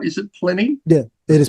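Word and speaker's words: Plini: Am I pronouncing that right? Is it Pliny? Yeah, it is Pliny. Right. Yeah. That's his name. Excellent. Pliny.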